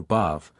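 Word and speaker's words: Badb: has shown that the word Bob or bad as expirated Bob or bad pronounced b or bav originally signified rage Fury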